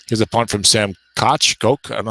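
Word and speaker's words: Koch: to pronounce his name I think it's I'll say cotch for today like the former mayor of New York City Al I think I might be Coke in this guy's case Koke is the traditional German pronunciation I know a little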